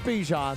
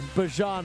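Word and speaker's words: Bijan: Not Bjan, Bjon Robinson.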